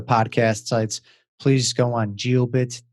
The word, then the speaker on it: Jiobit: sites please go on gio bit calm it's spelled what some of this j i/o be IT calm so gio bits it's the